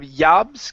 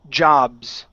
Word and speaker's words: jobs: Instead of Yabs, give me a J sound. It's jobs. Y. Okay. Almost. Uh, you're saying yabs like a Y sound. Ya. Instead of yah, it's jobs with a vibration. Yeah.